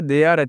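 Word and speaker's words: there: देयर टी एच ई आर ई क्या पढ़ना है इसे? देयर पढ़ना लिखना है ना कि इसे थेरे पढ़ना लिखना है दोस्तों।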